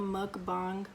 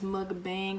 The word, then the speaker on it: mukbang: another video today I'm gonna be doing a mukbang but before I get into the video since everybody's never knows how to pronounce it they don't know if it's mud Bank or mud bath this is how you pronounce the K according